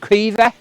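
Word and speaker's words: Caoimhe: know siobhan t-a-d-h-g tag and queeve c-a-o-i-m-h-e paul your name is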